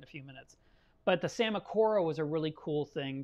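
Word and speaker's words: Psammocora: into that in a few minutes but the samakora was a really cool thing to see spawn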